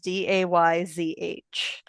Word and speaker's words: Desges: Well, because it's spelled Desges, and the phonetic spelling of it is Dayzh.